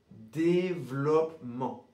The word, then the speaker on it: développement: Donc dans ce mot, le 2e et 3e e sont mués. Donc on va prononcer développement. Développement. Donc les natifs et les Français vont en général avoir tendance à ne pas prononcer le double P. Le double P va être mué.